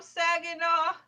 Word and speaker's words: Saginaw: Elay, pronounced like the city. I'm not from there, but I'm breezy. I'm from Saginaw, Michigan, not Saginaw, Texas.